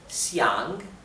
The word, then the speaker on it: 想: Bien, querer o desear, les expliqué, es xiang, xiang, ¿bien? Con el tercer tono, descendente ascendente.